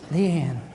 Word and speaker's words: Leanne: Leanne Leanne Leanne Leanne that's two syllables is it lean I'm just Dean that's just one Le Leanne they not going to